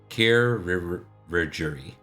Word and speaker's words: chirurgery: Chirurgery is how it's pronounced.